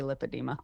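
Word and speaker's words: lipedema: Um was when you were talking about your journey with lipadeema, I think I'm pronouncing that correctly. It's lipid. I mean, you can pronounce it however, but usually people say lipadeema.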